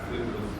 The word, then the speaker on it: فیدروس: کا نام فیدروس تھا، ہماری زبان میں یہی تلفظ رائج ہے، نام تھا فیدروس۔ اس نے اللہ کے